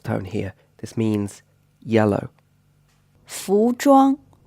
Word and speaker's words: 服装: 服装 The ZH or ZH sound is pronounced a little bit like the J in English, and this word means clothing.